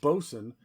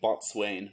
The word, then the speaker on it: bosun: it was captain, first mate, bosun, quartermaster, surgeon, and cook. Yeah, I like it. I like it that you wrote bosun phonetically so that nobody ran the risk of saying botswain, which is good.